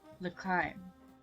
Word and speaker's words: L'chaim: L'chaim? Is it L'chaim? I think it's L'chaim. L'chaim. Okay. Exclaiming some sort of toast, he clinks his cup against my glass. L'chaim. I mimic Meyer's pronunciation, and when he happily nods in approval, we both sip our drinks.